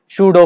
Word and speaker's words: pseudo: तो उस फोर्स को हम कहेंगे सूडो फोर्स। कौन सा फोर्स? सूडो force. इसका स्पेलिंग है PSEUDO, सूडो फोर्स।